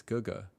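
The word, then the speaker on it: 哥哥: I just pronounced that GG this whole time. It's Guga.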